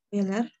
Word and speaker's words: Euler: Kalau misalnya kita masukkan nilai-nilainya, oh ya, kita punya identitas Euler seperti ini ya, bacanya Euler ya.